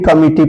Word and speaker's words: comity: COMITY, इसको भी कमिटी पढ़ा जाता है।